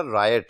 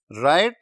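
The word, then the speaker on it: riot: Next word हमारा रायट है. रायट, इसकी प्रोनाउंसिएशन भी गौर कर लें, ये रियट वगैरह नहीं है या कुछ और रियॉट नहीं है, ये रायट है.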